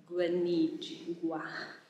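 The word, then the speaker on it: Guinigi: I asked her to pronounce it for me because I cannot. So Guanigi, it's like a weird sound.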